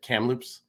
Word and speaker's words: Kamloops: Is it Kamloops? Yeah. Is that how you say it? Kamloops.